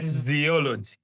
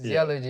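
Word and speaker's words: Ziyalogy: So So that's Z I Y A L O G Y.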